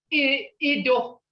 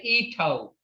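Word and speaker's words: eto: When you got the oh, make sure you say oh, not. And I've heard mispronunciation on mispronouncing this. They say ito. That ain't right, guys. There's no such word as ito in the Mvskoke language. It's ido.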